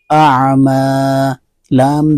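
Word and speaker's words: أعمالا: حمزہ عین زبر میم الف زبر ما، اعما، لام دو زبر لن، اعمالاً، اور آپ نیچے دیکھیں اعمالا، الف مدہ سے بدل کر پڑھا اس کو۔ اگلی مثال عذراً، دو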